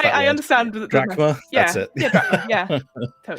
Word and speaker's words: drachma: So that's my 2 coins, my 2 drachma, or however you. I forget how to pronounce that I word. understand. Drachma?